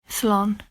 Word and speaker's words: slán: And here's how you say goodbye, slán. Goodbye in Irish sounds a bit like so long, doesn't it?